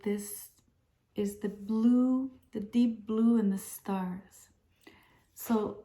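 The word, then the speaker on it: dais: the the blue um in French we say de it's spelled d-a-i-s it's I guess a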